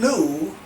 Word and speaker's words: lieu: call a deed in lieu of foreclosure not mary lou not sarilu but a deed in lieu of foreclosure and that's spelled l-i-e-u okay deed in lieu